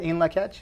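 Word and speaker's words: In Lak'ech: That's a translation of the Mayan in Lakech. That's correct. Say that again, in Lakech?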